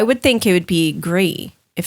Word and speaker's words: Gris: Well, what we've learned is Pinot Gris is the French base, like it's the French wine, Right.